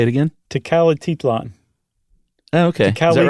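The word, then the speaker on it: Tecalitlán: Tecalititlan. We'll say it again? Tecalititlan. Oh, okay. Is that right? No. I added a T just to make it easier. I think you said it right the first time.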